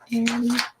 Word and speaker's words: Arity: Okay, that's Arity. It rhymes with charity. Arity. Charity. Yes.